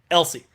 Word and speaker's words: Else: taking on cameron elsie i think you pronounce it elsie and once again they're